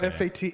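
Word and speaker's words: fêtes: You still pronounce it Fate.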